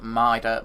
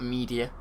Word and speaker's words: Mida: It is Mida Multi-Tool, as in King Midas, or King Midas. Not Media. There's no other I or E in there, so it's Mida for those new players.